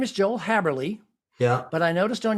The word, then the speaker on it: Haberli: So yeah, some people know me as Haberli, some people know me as Haberli, but it's Haberli.